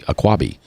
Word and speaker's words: Aquabi: So I want to give it like 3 syllables. Like avocado? But it's Lake Avocado. But it's only 2 syllables, right? Aquabi. Oh, it is 3. Aquabi.